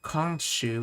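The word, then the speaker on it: 今週: week or a week but Kong shoe is how you say this week yukiga foodimasca I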